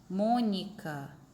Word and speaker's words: Mônica: Mônica. Qual é a sílaba mais forte? A tônica. Todo mundo lembra, né? Que a sílaba tônica é a sílaba mais forte. É o mo, né?